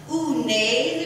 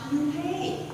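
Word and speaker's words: Unhei: Unae, the girl said, scrunching up her face. Ew, Unae, she chanted. Oh no, Yunhae corrected. It's spelled U. H-E-I. It's pronounced Yunhae.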